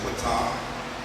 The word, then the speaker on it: Ptah: One of the major deities is, we pronounce it Ptah, but the same word exists in the Yoruba language as Pataki.